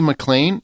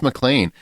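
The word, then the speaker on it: MacLean: by Ella Pernell and her name is Lucy mlan it's McLean if you look at the spelling but it's pronounced mlan which is also the name of John mcan's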